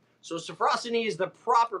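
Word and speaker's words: sophrosyne: scene is a Greek word it's actually properly pronounced safrussani so Safra city is the proper pronunciation but I've always said softer scenes it is a Greek word that means a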